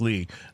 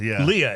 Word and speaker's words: Lea: week's special guest, uh singer and songwriter Chuck Lee. Uh, or is it Leah? Leah is how you say his name.